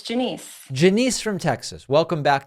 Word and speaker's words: Janice: I know that there's something about the pronunciation. You got it. It's Janice.